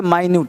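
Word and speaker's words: minute: तो ध्यान देना इसको मिनट भी पढ़ सकते हैं। अगर मिनट पढ़ोगे तो हो जाएगा समय की इकाई। 1 मिनट 2 मिनट और माइन्यूट पढ़ोगे तो सूक्ष्म। तो मिनट स्पेलिंग सेम है। साउंड अलग है। मिनट कहेंगे तो समय की इकाई और माइन्यूट कहेंगे तो सूक्ष्म। माइन्यूट है।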